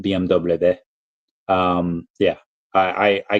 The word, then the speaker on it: BMW: it's BM Oh okay the German yes it is BMV not BMW um yeah I I